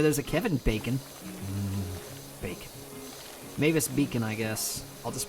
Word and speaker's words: Mavis Beacon: I mean, I guess it's pronounced Mavis Beacon, but I don't know. I pronounce it Mavis Bacon for some reason, and it's like, no, I'm pretty sure it's just because you watched that one Egoraptor video, and you've been pronouncing it wrong all these years, and it's like, well,